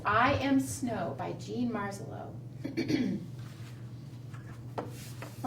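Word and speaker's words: Marzollo: and it's by Jean marselo which kind of rhymes with snow marelo and snow and the illustrations are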